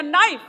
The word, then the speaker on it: knife: गुरुजी कहते नहीं बेटा, इंग्लिश में बहुत बार शब्द अक्षर साइलेंट होते हैं, इसलिए इसको लिखा तो जाएगा KNIFE लेकिन बोला जाएगा नाइफ। अगर हम अपने टीचर की